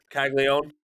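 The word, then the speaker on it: Caglianone: Florida slugger Jack Jeremy, say it correctly, Caglione, Caglione. Caglione, When Jack Caglione Caglione.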